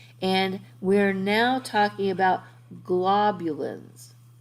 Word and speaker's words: globulins: we're now talking about globulins so globin and globulins there's an extra syllable in there and the different globulins